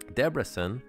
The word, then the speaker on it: Debrecen: So it's funny because Debrecen, is how you pronounce the Hungarian, this is a really famous